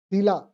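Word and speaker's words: Shelagh: आ जाओ हां हां शीला शीला डलेनी बसीला अलग लिखी जातीला ऐसे लिखी जात देख लो क्या लिखा शीला शला जी एच को प्रोनाउंस नहीं करते दिलानी दिलाानी दिला दी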